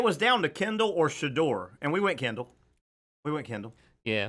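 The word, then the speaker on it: Shedeur: Is that how we're pronouncing his name? Shador.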